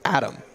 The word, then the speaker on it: Atem: name his name is Adam is eight that that's what he told me it's it's spelled a-t-e-m but it's Adam which I would have called ATM A10 yeah because this is